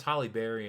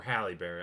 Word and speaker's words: Halle Berry: I know it has Holly Berry in it. You can Google it. Or Halle Berry. I don't know why I pronounce it Holly.